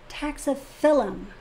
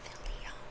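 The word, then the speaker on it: Taxiphyllum: one of the comments how to say it properly taxophilum not Philly well I mean there's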